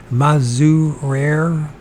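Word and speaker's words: Mazurier: Mazurere, like barrier, Mazurere, buying some big bones from some workmen and hawking up his giant.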